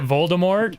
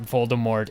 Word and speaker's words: Voldemort: harry potter words that voldemort is actually supposed to be pronounced voldemort because more being yeah more being the french word for death for death exactly right